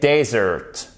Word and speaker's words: desert: Donc, dessert, c'est dessert. Dessert, accentuation ici, le E se prononce comme un I court. Et là, le E se prononce comme un E. Et vous avez l'accentuation sur la première syllabe.